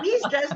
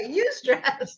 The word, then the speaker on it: eustress: Not me stress, but eustress. No, it's spelled EUSTRESS. So it's eustress as opposed to distress.